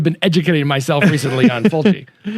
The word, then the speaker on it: Fulci: educating myself recently on Fulci. Fulci. Yeah, Fulci. I think it just depends on if you are or aren't from Italy, how you say it.